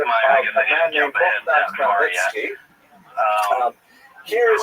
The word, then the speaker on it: Khmelnytsky: This is just the way it's written in Polish, and if you understand Polish phonetics, you'll know that it's pronounced Khmelnytsky, which is also not so easy to pronounce, but that's not our job at any rate.